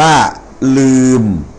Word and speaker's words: ลืม: นะ ครับ อย่าง เช่น ลอ ลิง สระ อือ ม ม้า นะ ครับ นะ อ่า อ อ่าน ว่า ลืม ลอ อือ มอ ลืม นะ ครับ อ ต่อ ไป